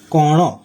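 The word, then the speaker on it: କଣ: এটি ওড়িয়া অনুবাদ হবে তোমর নামও কণ তোমার তোমর নাম নামও কি কণ এখানে কণ কিন্তু এখানে ওড়িয়া ভাষায় দন্তনের পরিবর্তে মধ্যন্য ব্যবহার করা হয়েছে তাই মধ্যনের উচ্চারণ হবে কণ অতএব তোমার নাম কি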